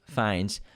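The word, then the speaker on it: Fiennes: tried to call us out on it it's pronounced rafe fines he doesn't really wear much makeup when he's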